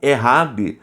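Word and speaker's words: אחד: único de unidade composta o errad lembra desse termo pronunciado na língua hebraica como errad porque o único de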